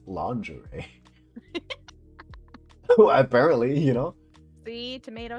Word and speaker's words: lingerie: what do you mean it's lingery sexy lingery what do you mean that's not how you say it that's that's the only way I've ever heard it oh no okay apparently it's lingerie apparently you know see